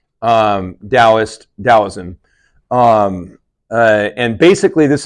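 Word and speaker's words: Daoism: finally you have um dosm it can be spelled with a t too um Dost dosm um and basically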